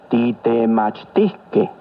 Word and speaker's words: Titemachtisque: Titemachtisque. Recuerda que en el náhuatl las palabras se acentúan en la penúltima sílaba. Titemachtisque.